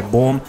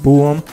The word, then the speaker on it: Bohm: block bluetooth speaker by Boehm well it turns out that I've been saying it wrong it's actually pronounced boom but I thought it